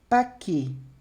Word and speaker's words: paquet: Com T, temos paquet. Paquet. Paquet. Paquet. Então, percebe que eu paro no E e mesma coisa, o T não se pronuncia, d'accord?